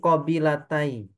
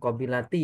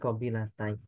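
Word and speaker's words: قبيلتي: Nah, min qabilatai. Bukan qabilati ya. Tapi qabilatai. Dari dua kabilah Hawazin. Qabilatai musanna. Qabilatai ini ya. Tapi nunnya dibuang karena dia jadi mudhaf. Hawazin ini dibacanya hawazina karena dia isim ghairu munsharif.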